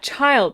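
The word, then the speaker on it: Childe: Yeah, child. That's how you pronounce his name, John.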